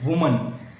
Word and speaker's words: woman: The white वुमन, वुमन you have to pronounce it वुमन। वुमन is singular, विमेन, विमेन is plural.